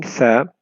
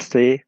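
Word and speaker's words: ث: When pronouncing Tha, one should take care that you don't pronounce any vowel sound. You cannot say Sa, but you say Tha. The Tha comes out when the tip of the tongue touches the edge of the top two front teeth.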